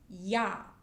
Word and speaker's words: ja: So it's pronounced like yo.